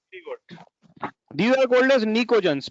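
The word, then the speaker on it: pnictogen: These are called as निकोजन्स। P silent है, इसको बोलते हैं निकोजन फैमिली।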